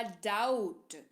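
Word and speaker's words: doubt: है कर्ज फिर है दी ओ यू बी टी डूबत नहीं बी को भूल जाइए होगा डाउट क्या होगा डाउट इसका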